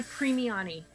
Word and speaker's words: Primiani: of the session and I preemie Ani Italian it is okay thank you so